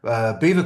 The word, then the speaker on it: Belvoir: Followed by 3 nights later in a place called Beaver Castle, Belvoir, it's spelt.